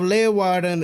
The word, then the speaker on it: Leeuwarden: Your pronunciation of Leeuwarden is spot on.